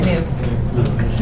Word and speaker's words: GNU: new gnu cash oh so that's how you pronounce it yeah new new is not Linux I mean new is